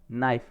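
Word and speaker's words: knife: I have a नाइफ, मेरे पास है नाइफ है, कैसा नाइफ है, शार्प नाइफ है, बहुत ही तीखा नाइफ है, नाइफ यानी चाकू, यहाँ पे के साइलेंट है।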